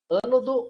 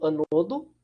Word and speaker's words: ânodo: Os famosos ânodo ou anodo, né? Aí vai da pronúncia, tem vários livros que colocam como um termo com outro termo, né? E o cátodo, ou catodo, né? Vocês vão ouvir os dois também.